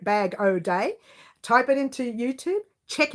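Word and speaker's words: Bag-O-Day: have not heard of badou day it's spelt exactly the way you hear it bag oh day type it into youtube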